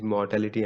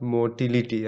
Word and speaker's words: mortality: bottom line eventually is mortality and growth right see 30 versus 8 percent like black and white so remember the proper pronunciation is mortality not motility i see even professors